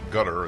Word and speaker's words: Qatar: It's a Q, I think, in Arabic, which is not a K. That's why it's spelled with a Q, the country. Q is Q, and K is K.